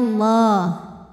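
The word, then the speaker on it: الله: yang kecil W yaj'alallahu lam pada lafaz Allah atau lam jalalah dibunyikan secara tafkhim karena huruf sebelumnya berbaris fathah Jadi dibacanya tebal bunyinya Allah yajalah kemudian Alif lamnya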